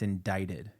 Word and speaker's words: indicted: addicted and they're like my dad was like it's indicted yeah I was like why isn't it spelled like light yeah because the English